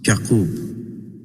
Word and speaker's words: Yaqub: He was introduced to us as Prince Yaqub, pronounced Yaqub, as in Hebrew.